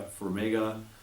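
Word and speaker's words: Farmiga: will veer uh from manga or firm yeah for mega nothing that's how you pronounce her name she's she's actually not just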